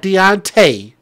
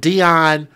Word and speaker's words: Deontray: On Monday morning, Deontray Deontray, not Deonte. Not Deon, but Deontray.